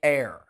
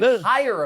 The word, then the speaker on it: heir: The H is silent. Listen, I'm sorry. But I get it. You're like hire apparent.